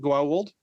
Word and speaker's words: Goa'uld: Is that how you pronounce it? Goa'uld?